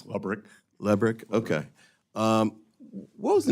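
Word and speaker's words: Lebryk: And I believe you were approached by the highest-ranking career official at Treasury, David Lebrick. Am I pronouncing his name correctly? I believe it's Lubrick.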